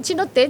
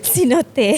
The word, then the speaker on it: cenote: Chinote. Chinote. Cenote.